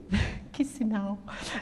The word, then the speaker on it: Chisinau: took me ages to pronounce, but Chisinau.